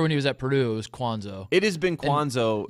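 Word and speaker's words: Cuonzo: so it looks like Kwanzaa but he actually pronounces it cons oh now yes I swear when he was at Purdue's Kwan's oh it is been Kwan's oh yeah his entire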